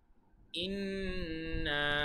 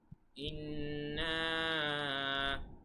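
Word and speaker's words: إِنَّا: ইন্না আ'তাইনাকাল কাউসার। ইন এখানে কিন্তু ওয়াজিব গুন্না হবে, কেননা নুনের উপরে তাসদিদ আছে। ইন্না এখানে তিন আলিফ টান হবে, কেননা তিন আলিফ টানের চিহ্ন আছে।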